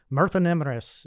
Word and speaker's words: Myrddin: song My Name uh meranus is how it's it's relatively pronounced in Welsh and uh it's the